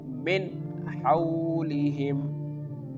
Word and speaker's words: min hawlihim: can pronounce this like min hawlihim, min hawlihim. Here the noon sound is very clear.